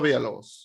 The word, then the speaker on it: Villalobos: Bernardo Villalobos. You have to roll your R's.